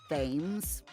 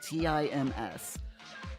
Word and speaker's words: Thames: Yeah, it's not pronounced Thames. It's pronounced as though it was spelled Tims.